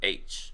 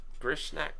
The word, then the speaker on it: Grishnackh: Count Grishnak, I think it's Grishnackh. I think you hit it spot on. Grishnak. Dude, my dyslexia makes it really hard to say that. I'd say Grishnak.